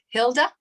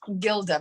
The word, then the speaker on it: Hilda: ties into what hilda sorry i was mispronouncing your name it's hilda yes right you get it okay sorry i think i called you gilda before sorry um uh so